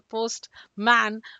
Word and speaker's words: postman: Postman. No, it's postman. If I say windmill, again, the same theory. So, please go ahead and stress on the first word windmill.